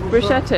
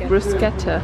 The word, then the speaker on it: bruschetta: one of them did you know it's not pronounced bruschetta is pronounced bruschetta and we are also going to get the